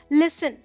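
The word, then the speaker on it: listen: आई एस इ एन क्योंकि यहां पर टी साइलेंट है तो बताना पड़ा कि टी आपको लिखना है बोलना नहीं है और वहां से मैंने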